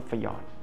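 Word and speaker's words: fjord: คำ เรียก นะ ครับ ว่า ยอน หรือ ฟยอด นะ ครับ ภาษา อังกฤษ คือ สะกด ว่า F J o r d นะ ครับ ฟอรด ฟอรด นะ ครับ ฟยอด เนี่ย จะ อยู่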